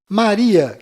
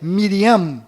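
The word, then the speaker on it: מרים: menos sofreram mudanças foram maria que na verdade é miriam com m mundo no final rei davi que na verdade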